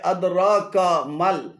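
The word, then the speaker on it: أدراك ما: এখানে আদরাক এবং কামাল উভয়টি ভুল উচ্চারণ। শুদ্ধ উচ্চারণ হবে আদরাকা মাল, আদরাকা মাল।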